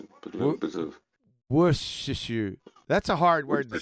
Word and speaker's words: Worcestershire: W-O-R. War. Store as in store a cup of tea. I don't Shire. need it. Worcestershire.